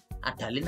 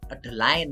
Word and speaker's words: Adaline: Ini adalin ini sebenarnya bacanya adalin atau Adeline gitu ya. Tapi saya orang Indonesia, kita bahasanya adalin saja ya.